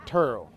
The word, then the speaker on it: Terrell: dallas if you're checking some people spell it with an e i say it with a u turo uh i've been a